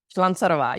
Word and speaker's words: Slancarova: All right, I'm going to try and pronounce this. Slancarova. Slancarova, yes.